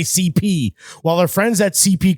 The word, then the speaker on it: C.P. Company: while our friends at CP company respectfully pronounced CHP in your best Super Mario voice already creates some of